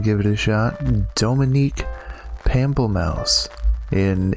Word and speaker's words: Pamplemousse: It's Pamplemousse.